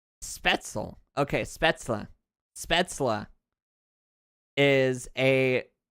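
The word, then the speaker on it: Spätzle: Spettzel.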